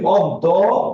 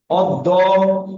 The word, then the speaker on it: অদ্য: আমরা যখন উচ্চারণ করি অদ্য, তখন আমাদের মুখে কয়টা দ আসে ভাইয়া? দুইটা দ। বলো কয়টা দ আসে? দুইটা দ। অদ্য।